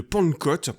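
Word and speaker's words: Pankot: le croyais parce que ça se prononce vraiment de la même façon.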